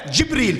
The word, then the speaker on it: جبریل: کے ذریعے نازل کیا۔ نہ جبریل کہنا ہے نہ جبرائیل کہنا ہے، یہ دونوں لفظ غلط ہیں، تلفظ صحیح ہونا چاہیے آپ کا۔ اب کیمرے کے ذریعے